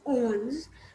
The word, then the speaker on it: onze: 20 11 is written as onze which is owns 12 is written as or you said e